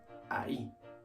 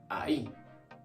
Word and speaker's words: ahí: This one is I, and this one is ahí. Notice it. The emphasis for this word is at the end, ahí.